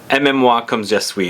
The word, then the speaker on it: Aimez-Moi Comme Je Suis: Aimez-Moi Comme Je Suis is how you pronounce it.